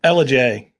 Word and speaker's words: Ellijay: And this thing is between Blue Ridge, Georgia and Ellijay, Georgia. I think I pronounced that right. I have a southern accent. Ellijay.